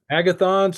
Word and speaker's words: Agathon: That spell it for us. Agathon's a Greek word for good, and it's Agathon.